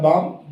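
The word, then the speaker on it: bomb: Students, ये जो word है इसको आपने इंग्लिश में भी बम पढ़ना है, बम्ब नहीं पढ़ना। कुछ स्टूडेंट्स में देखा है कि बी को प्रोनाउंस कर देते हैं, ये बी साइलेंट है, यहाँ पे बम।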